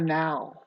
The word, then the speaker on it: know: will be called the already organization of the now but then see now if you want to